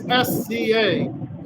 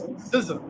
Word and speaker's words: SZA: I thought how to pronounce SZA back in the day was SZA. So one of my friends told me it was SZA. So SZA was sizzling.